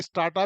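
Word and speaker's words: strata: के अंदर में है, स्टार्टा भी बोलते हैं कुछ लोग, स्टेटा भी बोलते हैं, पर स्टेटा इज a good name, मतलब एक्चुअल प्रोनाउंसिएशन है।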